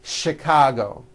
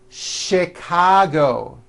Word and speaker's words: Chicago: spelled with CH and are also pronounced with a sound words like chef and the city of Chicago okay having said that